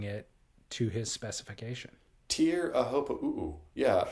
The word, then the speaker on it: Teahupo'o: He got his way because you are now pronouncing it to his specification. Teahupo'o.